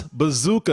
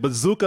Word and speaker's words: Bezucha: to mess it up it's bazooka and he just said bazooka like the bubble gum thank you so much